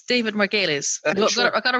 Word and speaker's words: Margulies: It's Margulies. Margulies. I'm putting the emphasis on the wrong. I went Margulies. Margulies. Thank you. Yeah, you're turning it Irish.